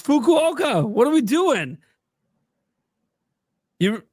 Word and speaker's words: Fukuoka: It's Fukuoka.